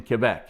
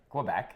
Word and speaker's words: Quebec: It's pronounced Quebec. Quebec, right? Quebec. Yeah. Yeah. Not Quebec. Quebec. Yeah. Quebec. Yeah, Quebec. But if you're Francophone, you say Quebec.